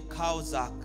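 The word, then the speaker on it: חזק: Oh oui, premier mot utilisé par les Juifs pour soutien était le mot kaozak, qui s'écrit shazak en français, mais qui se lit kaozak.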